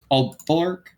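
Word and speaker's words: Aalborg: that Marine had, you could, how do you pronounce that? Alberg, Alborg, Alborg.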